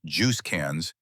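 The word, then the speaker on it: JUSCANZ: There's just CANs, pronounced Juice CANs, and yes, that's really what diplomats call it.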